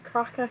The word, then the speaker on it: Krowka: I think it's croca croca cuz I'm like crocodile, but I I don't know if that's the right pronunciation for that.